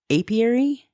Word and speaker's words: apiary: bee farm it's like a I can't even pronounce it apiary that's what I was saying it was like